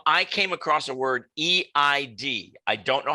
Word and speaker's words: Eid: gotcha okay um i came across a word e-i-d i don't know how you pronounce it tell me how you pronounce the